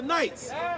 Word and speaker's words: knights: Because in the Dark Ages, we were the knights. When we picked up that helmet, what you think behind the helmet looked like? Yes. It looked like the night. The nighttime. Forget that K. The K is silent.